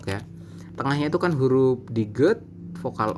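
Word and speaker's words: 디귿: DT DT ini adalah Diget teman-teman Diget baik nah Diget ini sama dengan giok teman-teman apabila dia di awal dan di tengah maka ee bunyinya itu akan D teman-teman ya bunyinya D seperti ini contoh ya ini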